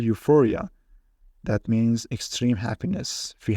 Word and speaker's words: euphoria: treating with chemicals and next EU which pronounced U for example euphoria that means extreme happiness